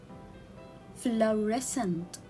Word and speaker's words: fluorescent: what about this word fluorescent fluorescent so here again i will cut letter c i will get rid